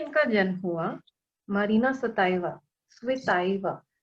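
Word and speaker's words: Цветаева: Marina स्विताइवा, इनका सही pronunciation जो है रूसी के हिसाब से स्विताइवा है, और लिखते हैं स्विताइवा करके।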